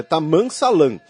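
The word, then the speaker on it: Tammam Salam: Desculpem, a pronúncia fica esquisita, mas é Taman Salam.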